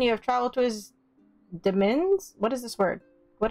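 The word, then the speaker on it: demesne: s and e okay it's pronounced like domain but with a d and it makes me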